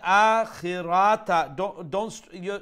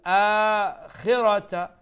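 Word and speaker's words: الآخرة: Okay, the word akhirata. You're stretching the ra a bit more than what you should. So the word pronunciation is lal akhirata, khirata, like that.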